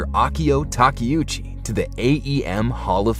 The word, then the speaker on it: Takeuchi: reliability who knew uh pronounced how it's spelled yes apparently it is I've been saying teuchi for years I need to remind myself to see takiuchi same as I need